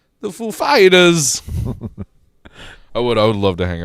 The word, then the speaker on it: Foo Fighters: He said, "Is the accent on the Foo or the Fighters?" He said, "The Fighters, ladies and gentlemen, the Foo Fighters."